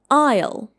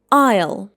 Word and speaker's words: aisle: Again, we have a silent letter here. It should be pronounced like isle isle and it is a walkway between rows for example in a store or plane.